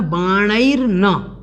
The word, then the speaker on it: बाणैर्न: उसके बाद देखें तो ललना लोचन बाणैर्न, बाणैर्न, या इसको विशेष ध्यान रखना है, ललना लोचन बाणैर्न, इस प्रकार से इसको बोलना है।